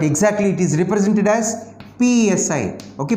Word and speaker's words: psi: it is represented as psi okay p is silent so say dou and psi yes the equation can